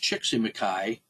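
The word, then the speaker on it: Csíkszentmihályi: that is like uh scholar whose name is pronounced chicky maai but which cannot be spelled by mortal man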